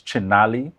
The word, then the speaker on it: Chinali: So we have on set with us Jimmy, and did I get the pronunciation right? It's Chinali.